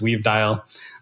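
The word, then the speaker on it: WvDial: of like Fame was called WV dial which I pronounce weave dial and it's basically a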